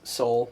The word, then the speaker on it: sol: like I was saying five is soul like solar uh flat five is